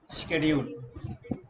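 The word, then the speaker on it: schedule: जिनको नहीं पता उनके लिए, ये शेड्यूल की प्रोनाउंसिएशन में का आता है बेटा, शेड्यूल, सा का शेड्यूल।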